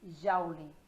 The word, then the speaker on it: joule: Nesse sistema, a unidade de medida do trabalho é o joule, pronuncia-se joule.